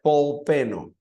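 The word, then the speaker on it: Paul Penno: El nombre de este pastor es Paul Peno, o se pronuncia Paul Peno.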